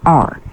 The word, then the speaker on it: hour: Hour, silent H, pronounced R.